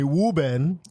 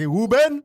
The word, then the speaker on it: Ruben: No, that's just how he pronounced my name. Like, Wooben? Wooben. Yeah, so I always, I got a bit about it. Well, my name is spelled R-U-B-E-N. Yes. But how he pronounced it was W-O-O-O-O-B-E-N.